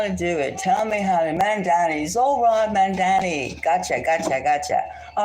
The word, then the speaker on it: Mamdani: Mandare. Zorod Mandare. Okay, I'll get it. If he wins, I'll definitely get it. Mamdani. Okay, tell me how to do it. Mamdani.